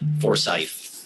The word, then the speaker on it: Forsyth: So that's how do you pronounce Forsyth? Forsyth.